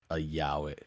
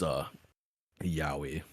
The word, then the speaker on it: yaoi: Oh, so it's yaoi. It is yaoi. It's yaoi. I'm I mad guess. that Yaoi? I actually pronounced it right Yaoi. first. Yaoi. Like when you like step on something like yowie.